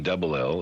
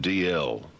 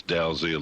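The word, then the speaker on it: Dalziel: Um, uh, Trevor DL D written D A L Z I E D L. It's pronounced DL. I bet you gets D Zal all the time.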